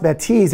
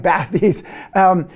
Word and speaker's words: Bathys: deal with the name batis which by the way is pronounced by tease even though it may look like bad these it comes from the